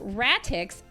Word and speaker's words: Ratix: So Ratix, R-A-T-I-X, is the main character in 1, and that is literally how the Japanese spell it in English letters, in Romanized letter.